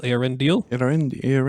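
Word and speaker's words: Eärendil: the pronunciation of this aren deal is it deal or Dill deal it is deal Aaron deal it are in the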